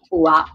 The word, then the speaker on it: UA: femminile, Shina Ringo, Chara Ua. Ua. No, non so come si, mi sono resa conto che non so come si Ua. No, pronuncia benissimo. no, era giusta la prima. Ua.